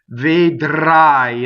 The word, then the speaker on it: vedrai: The R is rolled, vedrai, and the reason for that is that it touches a consonant. So any R that touches a consonant or a spinal in Italian is rolled.